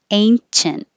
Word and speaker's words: ancient: Ancient, and stop the T, ancient.